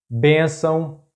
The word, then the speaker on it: bênção: The next tip is: if a word has two accent marks the stressed syllable is that one which has "acento agudo"or "acento circunflexo", because in this case "til" is just a nasal mark.